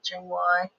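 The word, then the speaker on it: Chong Hua: Chungwai. That's all. I am just pronouncing it.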